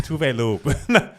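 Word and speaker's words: Tove Lo: Tell us how to pronounce Tovlo's fucking name. No, we know. It's Tuvelu.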